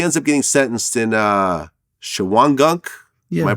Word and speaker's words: Shawangunk: And he ends up getting sentenced in Shawangunk. Yeah. Am I pronouncing it right? Yeah. Yeah, Shawangunk Correctional Facility, where you were sentenced as well.